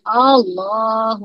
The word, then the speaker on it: Allah: ketemu lam jalalah eh itu dibacanya Allah tapi kalau ketemunya kasrah dibacanya lah Nah ini dibaca lah Allahu akbar karena ini